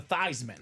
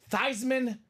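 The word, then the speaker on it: Theismann: be a Heisman Contender let's change that pronunciation of your name to thyman O So it was thyman for the Heisman whoa he did not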